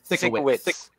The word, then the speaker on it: Sienkiewicz: Bill Sienkiewicz, Rich Bill Buckler. Sienkiewicz. Okay. Sorry. It's a hard name to pronounce.